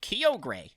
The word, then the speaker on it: Kyogre: like so which they've they always pronounced the kyogre prior to that but the voice actor right it was like keogray i'm pretty sure since they've also pronounced it kyogre yeah so both of